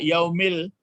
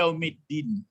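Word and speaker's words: يوم الدين: Jadi tidak dibaca yaumil, tapi yaumiddin, ya. Yaumiddin. Ya, yaumiddin. Jadi berbeda bacanya.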